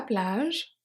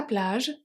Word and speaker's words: plage: a lot à la plage. The E of plage is silent.